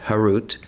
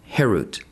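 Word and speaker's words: חרות: do not pronounce it carved harut but rather freedom herut to show that they are freed from the angel of death.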